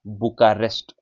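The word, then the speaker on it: Bucharest: Romania बुका रेस्ट बुका बुचा नहीं बुका बुका रेस्ट बुका रेस्ट रोमानिया बुकास्ट यूक्रेन की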